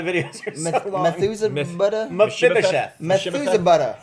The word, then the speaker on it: Mephibosheth: Mephibosheth. Methuselah. Mephibosheth. All right, If so you feel Mephibosheth- like you're saying it wrong, you're saying it right.